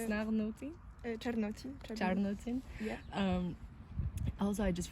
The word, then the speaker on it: Czarnocin: Czarnocin.